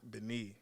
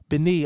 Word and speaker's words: Béni: I don't have the full pronunciation, and they need it as well. Let's talk about it. It's Béni. Béni.